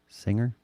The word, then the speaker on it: singer: Well, instead of a silent G, what is singer? There's no G, really, Singer. right? It's singer, ing.